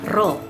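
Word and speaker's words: ρ: bisa lihat di itu ini bukan peya bacanya Bu Ya Allah ini besinya ro ro = massa dibagi dengan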